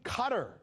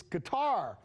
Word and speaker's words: Qatar: have this guy so somebody says stop saying cutter it's guitar like qatar repeat guitar somebody else who also wrote to us she says why do you keep calling it cotter so these comments sparked